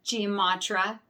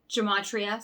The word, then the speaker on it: gematria: double checked this with g matra gematria sorry i said it wrong because it was so